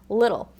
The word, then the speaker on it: little: Okay, so little has what we call a flap T. So when it kind of sounds like a soft D sound, little.